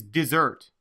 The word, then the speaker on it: dessert: The next word in this word study is dessert. Look at the word dessert. Notice that the spelling has the last 4 letters in bold. This is because the stress is on the second syllable.